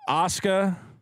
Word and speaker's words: Asuka: If we were pronouncing it in Japanese, it would be three syllables. It would be Asuka. Okay. But the Japanese, you know, when there's an S, they usually push Asuka. It together, so they go Asuka.